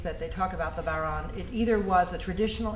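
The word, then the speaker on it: bodhrán: So the history of the Bauran, it's a Gaelic word, B-O-D-H-R-A-N, pronounced Bauran or Boran, either way is fine, and many other ways of saying it, is questionable, as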